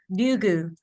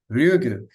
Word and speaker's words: Ryugu: And this name, how do I pronounce again, Kate? Ryugu. Ryugu.